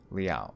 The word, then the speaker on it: Liao: wrong sir um well my last name is just pronounced liao leo okay yeah i mean